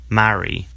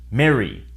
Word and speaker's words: marry: An exception is a small set of words in which the A is followed by a double R, in which case the vowel is pronounced as eh in the US. In the UK, marry. In the US, marry. Because of the difference, in the US, marry and Mary sound the same.